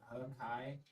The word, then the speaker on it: Hakai: They pronounce it Hakai, but yeah.